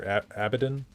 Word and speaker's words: Abidan: I was trying to say Abidan, or Abidan. I don't know how I was pronouncing it, but I was pronouncing it weird because they were pronouncing it weird a little bit ago, but Abidan is my preferred pronunciation.